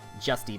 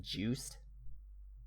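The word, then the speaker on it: Juste: by Simon's grandson on justy Belmont but it's pronounced juice juic yeah apparently his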